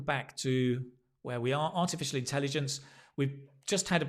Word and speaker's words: artificial: in a different color so it's artificial notice the sh although it looks like a s you can see he it's a sh a sh sound and it's a a artificial when you practice this